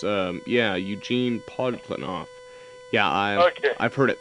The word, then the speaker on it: Eugene Podkletnov: though he and I have been in contact, Gene Putklinoff. I just want Oh, to make sure I yeah. got that correct, right? Yeah, well, there are 4 or 5 pronunciations. Yeah, Eugene Podkletnov.